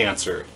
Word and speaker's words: answer: check out persona 3 the answer or the ants were seriously what decided that silent w needed to be in that word the English language is